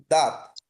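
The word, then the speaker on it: dent: ত দ মানে হচ্ছে দাঁত। দ যেটা ইংলিশে আমরা যেটা বলি হচ্ছে টু ফ্রেঞ্চে সেটা হচ্ছে দ ডি ই এন টি টি এর উচ্চারণটা হবে না তো ফ্রেঞ্চে নরমালি যেটা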